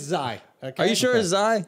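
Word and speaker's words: Xi: you did you said kai yesterday don't do this again you didn't say you said kai on the bert massey the son of bert massey um okay so zai yeah is spelled x-i yeah the president or prime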